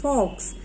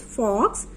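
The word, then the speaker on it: folks: Number 11th word is fox. F-O-L-K-S, fox. L is silent in this word. F-O-L-K-S, fox.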